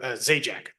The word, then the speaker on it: Zajac: your name and let us know how to pronounce it whenever you're ready. Thank you, your honor. It's uh um Zjek.